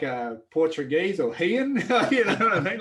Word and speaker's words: Ryan: Everyone thinks my name is pronounced Rianne.